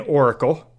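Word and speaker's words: Aurakle: Which is, so in the comics, Halo is an oracle who... which is spelled A-U-R-A-K-L-E.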